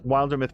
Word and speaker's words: Wildermyth: searched for how is Wilder myth pronounced it's a great question a developer answered like Wilderness but with myth instead of NES in other words the